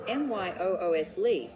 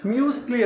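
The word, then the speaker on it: muesli: You might also hear it pronounced as MYOOSLY with a soft S sound instead of a Z sound. Bruce Lee ಥರ ಮ್ಯೂಸ್ಲಿ ಅಂತ ಹೇಳ್ಬೇಕಂತೆ.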